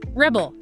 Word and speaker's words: rebel: Repeat after me. Rebel. That's a person who fights against authority versus rebel. That's the act of fighting against authority. He rebel. Feel how the emphasis shifts the meaning.